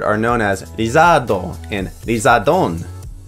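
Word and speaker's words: リザード: Charmeleon and Charizard are known as Lizardo and Lizardon. Both names derive from the English word lizard, which is pronounced as Lizardo.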